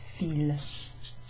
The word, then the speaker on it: fils: Mes fils ont cassé mes fils. Mes fils, mes fils. Feel, like, it's pronounced like the verb to feel in English, but it's a noun.